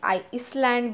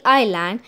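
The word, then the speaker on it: island: आयरलैंड एक बात कहूं कुछ लोग लाइन को आइसलैंड भी कहते हैं पर यह हमें लाइन को इस लाइन करके प्रोडक्ट्स नहीं करना है क्योंकि इधर एस साइलेंट होता है कि पार्किंग दोहराव फैन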